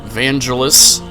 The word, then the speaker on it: Vangelis: Which, of course, I have to say it, there's a higher dosage of Vangelis, or Vangeli, depending on how you pronounce it, in this game.